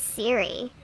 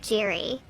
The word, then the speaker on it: Siri: My name is Siri, not Jiri.